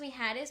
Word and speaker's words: Mejares: It's Mejares. It's not Mijares. It's pronounced Mijares, but written as Me.